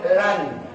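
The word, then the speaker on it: لن: Lam nun mati dibacanya lan.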